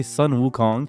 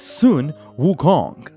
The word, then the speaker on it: Sun Wukong: Wukong I keep seeing people say Sun Wukong and it's really messing me up mentally and emotionally and spiritually and it's messing up my brain it is Sun Wukong recently a game called